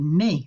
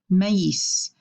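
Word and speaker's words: mais: this here is because if we didn't have those two dots you might actually recognize that word it's the word May which means but we don't want to pronounce it in May we want to pronounce it mace and so the two dots on the I tell us to separate the a and the I imagine that there's a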